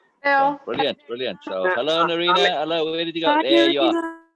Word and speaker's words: Nerena: I was just saying that if we are pronouncing name right, Nerena, Nerena, Yes, it's Nerena.